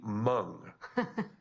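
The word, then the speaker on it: Hmong: And as a missionary for our church learning mung, which I did not expect, we were pretty uh surprised that if you guys know this language, it's H M O N G. The H is silent.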